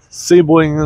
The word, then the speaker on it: Sebring: Sebring is how they pronounce it.